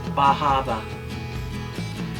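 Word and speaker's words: Bar Harbor: And then we went to Bahaba. And that's how they say it there, so that's how I like to say it, because it's funny.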